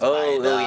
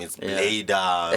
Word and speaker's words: Baida: Baida to them is oh, Baida. Yeah, how they pronounce it is just a bit some they mistaken different, it with my name. It's Baida.